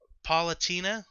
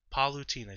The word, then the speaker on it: Palutena: say about them um palatina is that her name palatina i wrote it down because i yeah palutena cause i knew i was gonna i thought i was gonna mispronounce it because for whatever reason i was thinking her name was like paulina she's from uh the